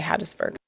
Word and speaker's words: Hattiesburg: Hattisburg. Hattisburg. Do you almost don't even say the I in Hadtis, you just say Hattisburg.